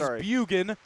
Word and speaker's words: Bugan: give it near side this is Bugan not boan or whatever I said in the first period I was mispronouncing that apologies I think Luke